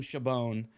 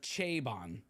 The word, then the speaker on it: Chabon: Instagram last night, I think I called him Chabon. I guess it's not right. So it's Chabon. Is that how we pronounce it?